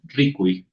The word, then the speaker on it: rikuy: Tendría que ser ricui, es decir, el ri tiene que ser más fuerte que el cui.